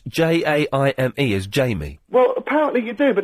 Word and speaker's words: Jaime: that's a girl's name, then they would probably not pronounce it Jamie. They'd say Jaime. Yeah. Of course they would say Jaime. It's the obvious thing to do is to say Jaime.